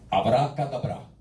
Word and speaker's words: abracadabra: Realmente no se pronuncia así, se pronuncia correctamente abracadabra.